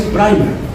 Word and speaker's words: primer: Se escribe primer, pero se dice en inglés primer.